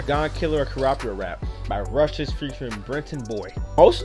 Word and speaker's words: Rustage: It's Rustage, and of course, as always, it's pronounced Rustage.